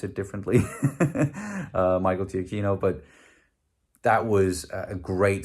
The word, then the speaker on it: Giacchino: The music by Giacchino, people pronounce it differently, Michael Giacchino, but that was a great score that really